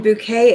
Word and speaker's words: Bouquet: And bouquet is spelled like bucket, but she makes sure that everybody knows it's pronounced bouquet.